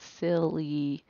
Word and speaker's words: silly: like in sky let's look at silly when i stretch that out silly that y has a long e sound so i'm going to